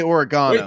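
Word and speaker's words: oregano: you're good on food the British say oregana there is Burrito little donkey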